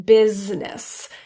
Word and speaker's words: business: And lastly, the I in business. Completely dropped, but very commonly mispronounced.